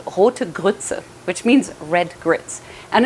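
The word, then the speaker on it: Rote Grütze: german which is where i'm originally from it's pronounced it's called hotegutsu which means red grits and essentially all it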